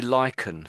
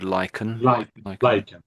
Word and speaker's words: lichen: So I I I tend to say lychen for this word lychen.